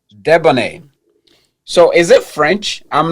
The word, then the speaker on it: Deboneé: So, how do you pronounce your name? Deboné. Debonné.